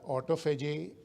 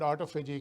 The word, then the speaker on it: autophagy: So the subject of my talk today is autophagy and fasting. So the word autophagy can be, as I am pronouncing, or autophagy, but it's the same thing.